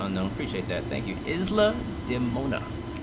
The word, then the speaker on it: Isla de Mona: yeah i think that's what it is i'm pronouncing all those really wrong isla de mona is the name thank you uh see the unknown appreciate that thank you isla de mona it's the name of that island right there